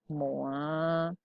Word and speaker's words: mois: Oke, yang B, les 12 mois, les 12 mois de l'année. Sekarang bedakan mois tanpa S, bacanya sama.